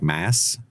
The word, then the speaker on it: Mads: Actually, do you know that's apparently pronounced like Mass or Maz?